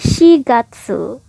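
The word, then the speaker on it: 四月: Nah, khusus untuk angka 4, 7 dan 9 itu ada 2 cara baca tergantung dia ketemu kanji apa. Misalnya nih angka 4 ketemu kanji bulan, artinya jadi bulan 4 atau bulan April itu nggak pakai yong tapinya pakai shi. Jadi shigatsu.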